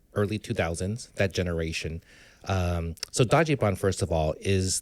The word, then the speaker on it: Dajiban: So Dajiban, first of all, is the literal pronunciation of how the Japanese pronounce Dodge van.